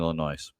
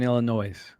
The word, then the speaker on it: Illinois: I mean, the northern Illinois. Yeah, you don't uh need to pronounce the S.